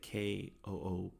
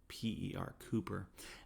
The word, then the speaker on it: Cowper: Now it's spelled Cowper, Cowper, but you pronounce it Kooper, Cooper.